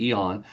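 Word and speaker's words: AEON: Again, AON is spelled AE O N. So, everybody pronounces the A, but it's really eon.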